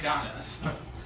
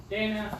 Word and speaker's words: Dana: I know like 3 Donnas. I thought Hannah's mom was named Dana. Dana, yeah, but I've heard people pronounce it Donna, so... That they're doing it wrong.